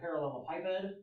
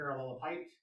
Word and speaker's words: parallelepiped: object, in n dimensions, we refer to that as a parallelepiped or a parallelepiped, depending on whether or not you want to pronounce the ed on the end or not. When I learned it, I pronounced it. So you'll hear me say parallelepiped, you'll hear other people say parallelepiped.